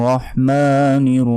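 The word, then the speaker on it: الرحمن: রহ জবর রহ আর এখানে ছোট হার উচ্চারণ করা যাবে না আর বা আর এটাও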